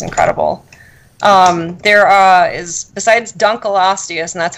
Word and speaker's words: Dunkleosteus: fossil fish was incredible there are is besides Dunkel ostia sand that's how you pronounce it a lot of people say Dunkleosteus but it was named for David uncle who